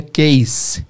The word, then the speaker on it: case: A palavra caso... que em português é som de Z, caso, em inglês é case, com som de S.